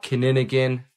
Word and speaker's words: Kinnigan: I don't think it's a real word, but if a person says it and they cannot pronounce it, it means they're a lizard shapeshifter person, because they can't pronounce the word right. They kind of growl when they say it, and that exposes them. I'm a real person. I'll say right now, Kininigan, I said it perfectly.